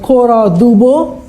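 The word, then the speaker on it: Cora Du Bois: out there and then kora du Bois that's how you pronounce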